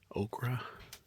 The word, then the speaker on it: Ocracoke: This is how you say the name. Ocracoke and Coke.